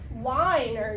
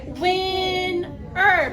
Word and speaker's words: winner: So when we're reading these words, we do not say whiner, right? We say winner because both of those syllables are closed.